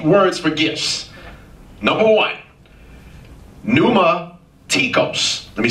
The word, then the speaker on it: pneumatikos: You spell new with a P? It's Greek. P-N-E-U-M-A-T-I-K-O-S. Pneumatikos. I'll say it again. P-N-E-U-M-A-T-I-K-O-S.